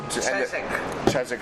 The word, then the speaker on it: Chiswick: squads based out of Chiswick West London also chz sorry I no my dad corrected me this morning you don't pronounced W okay we have an